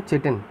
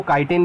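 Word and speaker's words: chitin: है उसको बुलाते हैं चिटिन। बहुत लोग इसको काइटिन भी प्रोनाउंस करते हैं, दोनों सही है, चिटिन और काइटिन, ठीक है।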